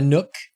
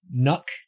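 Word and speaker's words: NUC: is awesome oh really it's not a nook it's a nook pronounced like truck thank you ip freely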